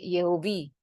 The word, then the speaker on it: Yehovi: lainnya itu dilafalkan sebagai Yehovi. Nah, kenapa Yehovi? Karena orang bilang ini mirip dengan huruf hidup untuk Elohim ya, EOI gitu. Jadi lafalnya adalah pengucapannya adalah Yehova atau Yehovi dan bukan Yahweh.